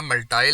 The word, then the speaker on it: multi: मल्टी level list या मल्टाई level list एक ही list होती है, सिर्फ प्रोनाउंसिएशन की वजह से आपने कंफ्यूज नहीं होना।